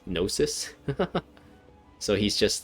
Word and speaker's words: gnosis: just kind of gave up the gnosis the genosis gnosis so he's just like so even though he